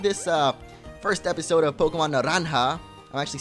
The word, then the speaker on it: Naranja: So if you have enjoyed this first episode of Pokemon Naranja, I'm actually saying it right this time, not Naranja, like I used to say when I was a wee little boy.